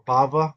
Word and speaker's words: Bava: He phrased the question as though Baba Batra, this B here, and Baba is the letter Bet, which can also be pronounced like a V, is the letter Bet. It's the same letter. So Baba or Bava, we're saying the same thing.